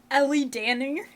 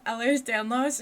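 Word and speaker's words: Ehlers-Danlos: Those Kitty shoes and track Ellie Danny and she corrected him. Ellers Danlos. She said it right, which is great.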